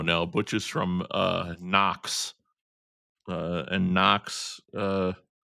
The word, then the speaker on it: Knox: Butch is from uh Knox. Uh, and Knox, uh, Knox had a a silent K for a very specific reason.